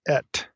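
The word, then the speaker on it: את: It's pronounced et. So it's aleph tav, et. So when I say et from this point forward, I'm talking about this two-letter particle.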